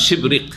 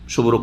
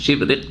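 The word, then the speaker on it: شبرق: তাবরির কাছে রয়েছে, শুদ্ধ উচ্চারণ হচ্ছে তার শিবরিক, শুভরক নাই, শিবরিক।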